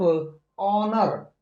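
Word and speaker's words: honour: हम एस का प्रोनंसिएशन नहीं करेंगे हम सिर्फ ओनर ओनर का प्रोनंसिएशन करेंगे दूसरा वर्ड है नेक्स्ट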